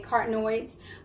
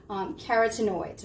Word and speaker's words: carotenoids: of antioxidant carotenoids okay cartenoids carotenoids rather let me say it correctly are less likely to